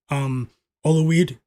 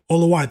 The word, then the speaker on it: Olawide: Olawide. Okay, yeah. Olawide, thanks a lot. Yep, he said I'm pronouncing his name correctly.